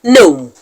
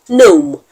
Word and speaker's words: gnome: clusters are words like gnome gnome in the word gome g n o m e the g is silent and the N is pronounced so in that word